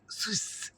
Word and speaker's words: swish: সুইচ সুইস ঠিক এইভাবে উচ্চারণটা হয় এস ডবলিউ আই এস এইচ সুইচ তো আমরা যেকোন মানুষকে